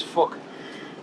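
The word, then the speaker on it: Phuc: His name is Fuck. Well, it's spelled with a PH, so it sounds like fuck.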